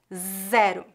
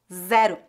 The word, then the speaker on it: zero: letra Z em português a letra z é pronuncia de forma voada com bastante vibração das cordas vocais zero zero vamos ver exemplos em